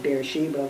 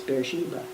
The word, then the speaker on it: Beersheba: It's Beersheva. That's in Hebrew. Yeah. In English, it's Beersheba.